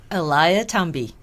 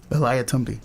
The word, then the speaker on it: Eliathamby: last name can you say it for me Eliah tumby Elia tumby mm did I say it right you did